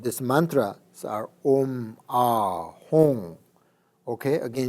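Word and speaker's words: Hūṃ: So the first three syllables of this mantra are Om, Ah, Hong. Okay, again you have to say Hong, not Hum. Sometimes people say Hum. That's not the correct pronunciation.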